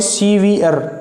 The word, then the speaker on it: severe: इसकी प्रोनाउंसिएशन क्या होगी, सीवियर, रे साइलेंट रहेगा इसके अंदर, सीवियर, SEVERE।